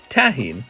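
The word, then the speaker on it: tahini: It's pronounced Tahine.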